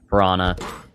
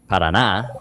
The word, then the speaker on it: Paraná: Parana, or I should say Paraná, if I want to pronounce it perfectly correct, is definitely one of those states that has very deep red dirt.